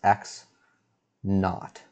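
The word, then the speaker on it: x₀: so by the way when we write x subscript 0 it's convention to pronounce this x naught and the word not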